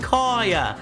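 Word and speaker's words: Kaiya: I would have said Kaya as well, because it's pronounced Kaya.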